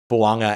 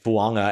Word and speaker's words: Fuaga: country are graded, you feel really good about Fuaga and his 91.3 zone blocking grade. And by the way, if you're wondering why I'm saying Taliese as opposed to Taliese and Fuaga as opposed to Fuaga, we got clarity on